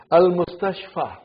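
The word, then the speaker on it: المستشفى: It is ya, but it is pronounced as alif. It's called alif maksura. Chota alif. Tingu alif. Are you with me? Do you understand me? Tingu alif? Shorty. Okay? Al-Mustashfa.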